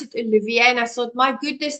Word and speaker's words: Oliviera: friend and brother John Olivier now I said Oliver and he said it's French you pronounce it Olivier and I thought my goodness that is such